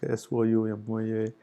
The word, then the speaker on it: Soumya: So but if you use if you use IAST script, then exact pronunciation is going to be SOUMYA, Soumya.